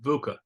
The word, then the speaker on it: VUCA: So I want to kind of transition to another part of your work, having to do with VUCA. I guess that's the correct pronunciation.